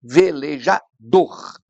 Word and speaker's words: velejador: que essa palavra tem Claro que essa aqui é a sílaba mais forte velejador não é velejador então como é a última sílaba tônica essa é uma palavra oxítona O problema é que